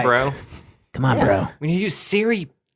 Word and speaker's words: Cerebro: Cerebro?